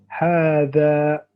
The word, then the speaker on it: هذا: So appear like this, but it's actually pronounced هذا, like this. So as if there's a what? There's a alif. This is a alif mad. So you elongate.